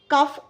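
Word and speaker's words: cough: डो rhyme with low काफ राइ्स with of थ्रू rhymes with two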